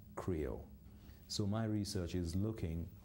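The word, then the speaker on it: Krio: of at the beginning which is spelled k-r-i-o creole so my research is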